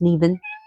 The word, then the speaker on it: Nemain: Nevin's her name is spelled Nemain, but it's pronounced Neven, and it means venomous.